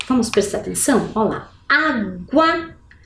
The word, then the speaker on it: água: Água, aguentar. Percebam que água e aguentar, eu consigo perceber o som da letra G.